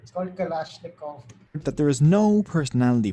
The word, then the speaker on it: Kalashnikov: इट सो I finally know how इट is pronounced it's called कलाशनिकोव that there is no personality profile for your typical terrorist or cult recruit.